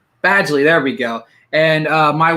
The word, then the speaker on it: Badgley: It's Badgley, there we go.